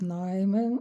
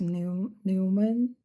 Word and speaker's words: Neumann: Olá, eu sou a Neumann, é uma pronúncia em alemão, mas a maioria das pessoas aqui no Brasil me chamam de Neumann ou Neumann, e é apenas um detalhe para vocês não estranharem quando alguém se referir a mim como Neumann, poucos falam Neumann.